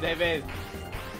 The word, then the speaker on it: David: Yeah, I actually know his name is actually pronounced David, but I'm used to calling him Devid. It's kind of like a nickname at this point. I don't want to change. Technically, that's technically how you pronounce the E, they.